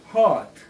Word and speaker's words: hurt: hurt. hurt, 다치게 하다. 아프다. 다친. 마음의 상처를 입은 이런 뜻이에요. 그냥 hurt하는 게 아니고 R 발음이 있으니까 약간 R은 입천장에 닿을까 말까. hurt.